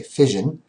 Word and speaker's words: fission: so when you see the word fion okay pronounced sort of like if you had an accent on on fishing okay fision um what fision is is the splitting okay